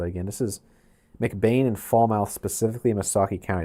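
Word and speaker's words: Falmouth: Fallmouth is actually What is with these silent letters? I tell I swear fall mouth like Frankenmouth. That's how it's actually pronounced according to chat here.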